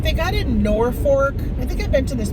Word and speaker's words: Norfolk: It's F-O-L-K, not F-O-R-K, but they call it Norfolk. But there's no R, like it's folk, F-O-L-K. And then there's a Madrid, but they call it Madrid, not Madrid.